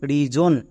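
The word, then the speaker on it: reason: যেমন আরই এস ও এন জন রিজন একে আমরা রিজন বলবো না।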